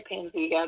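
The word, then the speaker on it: Panzyga: what is it called is it pain zyga is that how you say it or panziga yeah that's the name of it yeah i've heard it said both ways it's actually pansy but okay um as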